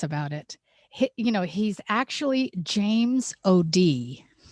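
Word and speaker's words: O'Dea: He's actually James O.D. It's O''DEA, and I've listened to his talks, and he pronounces it James O.D., and he's from Ireland.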